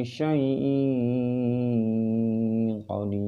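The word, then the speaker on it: شَيْءٍ قَدِيرٌ: Tanwin, ya, menghadapi huruf qaf disebut dengan nun mati atau tanwin, dia menghadapi huruf qaf, maka dia disebut dengan ikhfa juga. Maka ketika pengucapannya teman-teman harus tahan atau didengungkan di sini.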